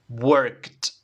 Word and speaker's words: worked: repite conmigo work work y el pasado worked tiene que sonar ese esa t vale worked Okay worked Great